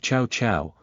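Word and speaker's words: Cao Cao: Speak of Chow Chow, and Chow Chow appears. The word fuck in Chinese is pronounced as chow as well, but the intonation is slightly different from Chow Chow.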